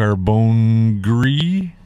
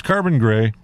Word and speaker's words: Carbon Grey: how to pronounce that I was going to our bone gree no its carbon gray I'm getting so old